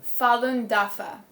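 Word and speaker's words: Falun Dafa: this group it's um could you say correct pronunciation of the Groupon Fallon dafa Fallon dafa it's it's it's a severely persecuted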